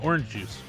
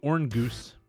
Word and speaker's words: Orongus: Definitely pronounced that wrong. Orang goose, right? Uh, orange juice. Orange juice. Orange juice. Orange juice. Yeah. I mean, you could do orange goose, but like everybody just calls him orange juice.